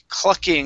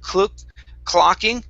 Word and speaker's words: clucking: go to the word clucking instead of cloak clocking with an ah it's club clucking lucky awesome awesome nice job